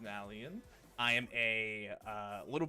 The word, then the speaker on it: Nalion: chat when they tell you that I'm an a lion it is pronounced nallan I am a uh little bit of a